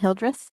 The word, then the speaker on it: Hildreth: Yes, his name is Aiden Hildreth. Spell it. Okay, it's A-I-D-E-N. Okay. And Hildreth is H-I-D. It's H-I-L-D-R-I-D-H. H-I. H-I-L-D-R-I-S. Like children with an H instead. Let me see.